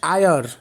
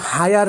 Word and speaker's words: heir: HEIR শব্দটা কিন্তু হায়ার না, HEIR এই শব্দটাকে আমরা উচ্চারণ করি আয়ার। একটা কনসোনেন্ট ওয়ার্ড, কনসোনেন্ট লেটার, এবং এইচটা এখানে উচ্চারিত হয় নাই, এখানে সাইলেন্ট।